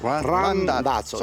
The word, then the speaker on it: Randazzo: Randazzo. Randazzo. Randazzo. Yes. That's Randazzo.